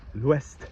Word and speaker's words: ouest: The south, le sud, you do pronounce the D, and the west, l'ouest, you do pronounce the T.